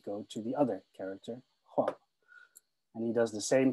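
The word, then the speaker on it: 黄: in this case is the character in Mandarin pronounced as Huang.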